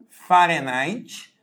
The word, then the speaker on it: Fahrenheit: escreve né dessa forma a gente escreve farinite que a gente lê na verdade Fahrenheit né que a gente representa